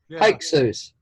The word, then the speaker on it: Hyksos: since they kicked out the how do you pronounce it Hicks Oh sir Hyksos all right the Hyksos had been kicked out